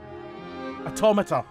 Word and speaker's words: Automata: the song reminds me of Nier Automata. I've forgotten how to say that word. Automata. I've heard it pronounced automata, but also automata as well. I don't like the latter.